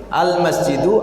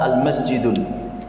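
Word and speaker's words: المسجد: Ya, milih al-masjidu atau masjidun. Maka tidak boleh kita katakan al-masjidun. Ya. Jadi kalau ada yang orang membaca al-masjidun, berarti dia belum belajar bahasa Arab.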